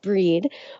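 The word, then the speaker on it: Brigid: Um, it's also traditionally been the celebration of the goddish Bridg, pronounced breed, uh, where women would light candles and ask for their blessings for, um, fertility and purification.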